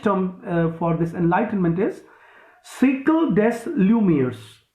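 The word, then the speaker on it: siècle des Lumières: down the french term for this enlightenment is cycle des lumieres s i e c l e c cycle means cycle actually we pronounce it cycles s i e c l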